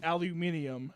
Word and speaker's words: aluminium: So it's like aluminium as opposed to aluminum.